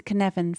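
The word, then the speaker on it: Cynefin: share them with you the first was a kinevin framework which draws on research into systems theory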